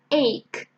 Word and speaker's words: ache: people are not sure how to pronounce the first one just three sounds ache ache and the second